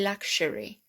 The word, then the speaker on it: luxury: they gave us this one because it's definitely luxury like cherry i would have said that was